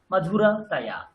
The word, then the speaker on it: मधुरतया: তাহাটাকে কেটে বাদ দিয়ে দিন, তার আগের সিলেবেলটাকে একসঙ্গে উচ্চারণ করুন, তয়াটাকে একসাথে উচ্চারণ করুন।